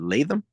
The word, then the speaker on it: Latham: Latham.